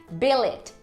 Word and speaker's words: billet: E o poema diz que não rima, porque na verdade a pronúncia dessa primeira palavra é billet. Billet.